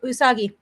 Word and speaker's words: Usagi: I can't pronounce it. Usagi.